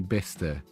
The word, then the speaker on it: Bicester: Is it going to be one of these weird English places where it's actually pronounced road or something? It's actually Bister.